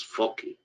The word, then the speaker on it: foci: I speak Italian, I would rather pronounce it foci, but obviously in English it's foci, focus.